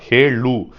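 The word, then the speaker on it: ಹೇಳು: அதை எப்படி பண்ணணும்னா ஹேலு, அந்த எள்ளு வந்து உள்ளே போகணும் போல நாக்கு, ஹேலு அப்படின்னு சொன்னாதான் ப்ரோ சொல்லுன்னு அர்த்தம்.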